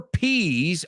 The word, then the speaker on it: peas: Peas rhymes with disease. Peas, disease. It also rhymes with ease, facilidad. It also rhymes with please and freeze and tease and seize and even squeeze and breeze.